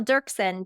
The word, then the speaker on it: Doerksen: n and I don't ask me why there's an o in there I don't know but pretend it's not there and you'll you'll pronounce